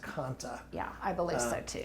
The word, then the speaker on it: Kantha: And it's pronounced Kanta. Yeah, I believe so too. A lot of people will say Kantha, but I think it's Kanta.